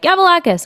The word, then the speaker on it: Gavalakis: My actual name, Gavalakis, is a little hard to pronounce. Although it is nice because anybody Greek is like Gavalakis. I'm like, yes, Greek person. Right. But other than that, it's kind of hard for people to say on stage.